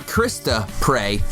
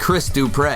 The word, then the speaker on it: Chris Dupre: Not Krista Prey, but Chris Dupre. That's right, you have to separate that. With the accent on the end.